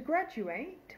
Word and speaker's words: graduate: today's word is graduate to graduate with a long a sound is a verb um it's used as a normal verb so I graduated from University in 1998.